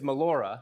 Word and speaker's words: Mollura: Well, you're saying it right, with the Hispanic language. Mollura. It's Mollura. It's Mollura. Sicilian. It's Sicilian. Mollura.